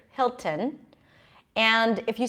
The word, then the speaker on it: Hilton: forgotten Hilton that's okay you're supposed to say Hilton most Americans do say it but British speakers will pronounce the T here Hilton and if you say